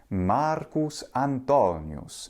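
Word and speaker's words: Marcus Antonius: which was Mark Anthony Marcus antonus and his name has that pronunciation in both classical and ecclesiastical Latin pronunciation so why do we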